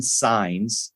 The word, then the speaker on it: Saenz: welcome my guest today Martin signs you you corrected me on your pronunciation and your name right and you said